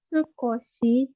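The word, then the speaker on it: 少し: Untuk cara bacanya ada 3. Sukunai, sukoshi, sama sho. Sho, gitu.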